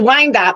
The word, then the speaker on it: Wyandotte: It's Wyandotte, but good. Very good. All right. If I had to miss something, the pronunciation of that city would be the one thing I'd want to miss.